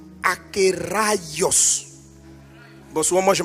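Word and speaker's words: ἀκέραιος: Donc on prononce akios. Bon souvent moi je m' je me trompe, je dis akéos.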